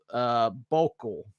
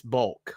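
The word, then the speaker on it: Boelcke: His name was Oswald Bokel, I think. I think that's how you pronounce it. I was trying to figure out how to pronounce that. And that's bulk. It's bulk.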